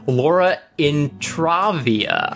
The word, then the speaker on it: Laura Intravia: name correctly because I asked her how to pronounce it before the show started, but it's Laura Intravia.